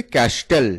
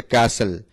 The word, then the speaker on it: castle: আমরা অনেকে এর উচ্চারণ করে থাকি ক্যাস্টেল। এই ক্যাস্টেল উচ্চারণটা সঠিক নয়। সঠিক উচ্চারণ হচ্ছে ক্যাসেল। তাহলে CASTLE, ক্যাসেল।